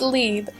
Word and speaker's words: Liebe: love is that how you pronounce that I thought it'd be more likely bore Libby no no it's liebe it means love and German so like dr. love never mind it was